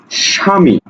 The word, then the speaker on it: স্বামী: দেখো তো এই যে শয়ের সাথে ব আছে, এই বয়ের কি কোনো প্রভাব আছে? কোনো প্রভাব নাই। উচ্চারণ হচ্ছে কি? উচ্চারণ হচ্ছে সা।